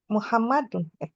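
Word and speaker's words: محمدٌ: Muhammadun. Iya. Tadi pelajaran kita nama laki-laki di akhirnya harus Oh, tanwin.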